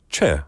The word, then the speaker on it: Choi: For example, when somebody is called like Che, like our listener, Che Yun-jung. In English, it's spelled Choi, C-H-O-I.